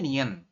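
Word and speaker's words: 니은: ya Bisa say oke jadi kalau namanya Nien berarti ee di awal maupun di akhir dia bunyinya tetap n jadi di manapun posisinya dia akan berbunyi n contoh saya beri contoh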